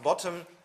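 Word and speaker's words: ⊥: and that stands for bottom so this is pronounced bottom and this is a special value which stands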